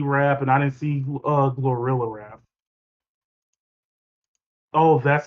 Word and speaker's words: Glorilla: Yeah, except for like two of the people because I didn't see Central C rap and I didn't see Glorilla rap. Oh, that's how you pronounce it, Glorilla.